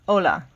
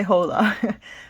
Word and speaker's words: hola: say it like that hola you do not say the h don't say hola i do that to joke around with people but it's not correct okay four what's up